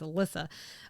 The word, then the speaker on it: Elisa: I think it's Alyssa.